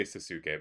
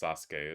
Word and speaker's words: Sasuke: You'll see his path is beating Cypher, Dalamar, Gafgarian, Crimson, and Cookie before losing to, I always say Sasuke, but it's definitely pronounced Sasuke, isn't it? Or closer to that.